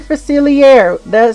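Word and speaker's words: Facilier: That's how you say his name. It even says it on the goddamn box. God, right there. Dr. Faciler. See that R?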